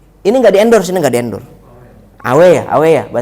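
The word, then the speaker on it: A&W: Ini nggak di-endorse, Awe ya bacanya.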